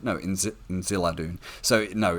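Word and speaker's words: Inziladûn: Like if you remember from season 1, at one point Miriel references her father's name, which is Inziladun or Inzaladun. No, Inziladun.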